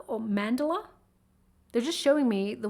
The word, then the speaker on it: mandala: They just called it, I hope I get this right, a water mandala or mandala. They're just showing me the words water. I'll spell it for you, M-A-N-D-A-L-A.